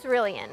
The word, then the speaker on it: Cerulean: Did I say it right? Cerulean. Cerulean. Okay, Yeah.